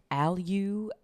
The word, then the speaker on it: Allyu: Like the last time I went to Alyu is maybe how it's pronounced. It's spelled like ALLYU spa.